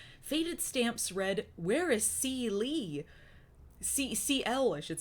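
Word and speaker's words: C~L: They referred to C squiggly L, whose name was pronounced CL.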